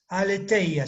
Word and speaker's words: aletheia: Aletheia se escribe. A-L-E-T-H-E-I-A. Aletheia se pronuncia en griego.